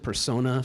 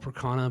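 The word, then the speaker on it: Percona: so we're using the I pronounced at persona some people call it Pro Cana but the pro/con a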